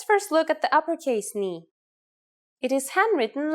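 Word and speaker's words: νι: The first letter today is a consonant, ni. Yes, pronounced just like the knee on your leg.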